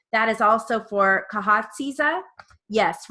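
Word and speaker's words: Khatieza: your daughter as well yes i'm going to pronounce her name properly kahatsi it is a k-h-a-t-i-e-z-a okay thank you she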